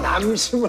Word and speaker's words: 남심: 그래서 발음을 잘해야 돼. 이응이 아니에요. 남심을 흔들기 위해서.